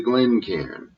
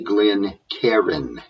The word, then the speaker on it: Glencairn: me discuss the pronunciation this is not a glen Karen it's GLE n c a i r n the AI forms one sound there is nothing between the r and the N so that last part